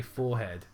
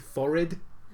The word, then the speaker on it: forehead: Just for some reason, just don't pronounce the H. Yeah, just don't know how to say forehead.